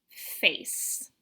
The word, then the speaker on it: face: Do you see that the word face has an E at the end? You don't say the E. The E is silent. The silent E makes the vowel say its name. A. This word says face.